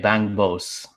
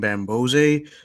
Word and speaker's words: Bangbose: commentators yesterday were saying Bambose, so I don't know. Bangbose. Bambose. Yeah. It's so the way his name is spelled is just like not natural for native English speakers like myself.